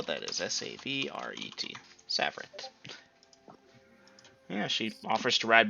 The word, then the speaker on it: Savaret: __ ] it savaret there's supposed to be an eye in there but it it's silent okay and for those of you looking to spell that is s-a-v-r-e-t savart yeah she offers to